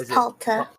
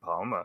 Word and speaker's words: Palta: It's Palta. Palta, thank you, because I was saying that completely wrong the entire last session. I was saying Palma, so it's Palta, and then Palta well, you know what?